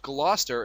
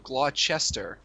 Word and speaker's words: Gloucester: fourth July uh also why is it pronounced gler instead of glester everything in ma is